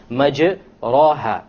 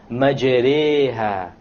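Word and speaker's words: مجريها: If you were to not know what an imala is, you would say majraha, but that's a mistake. You have to pronounce it with an imala. An imala is pronounced as this, majreha, majreha.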